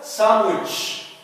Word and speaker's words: sandwich: Like the word sandwich. Sandwich. Sandwich. We don't say sandwich. We say sandwich. Sandwich.